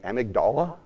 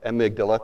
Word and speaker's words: amygdala: So has anyone ever heard of this thing called the amygdala? Or amygdala, thank you. I totally mispronounced it.